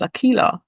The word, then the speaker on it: Akilah: correct him I'd never say my name is Akila and you couldn't just butcher my name because you don't know how to pronounce it so there are little things that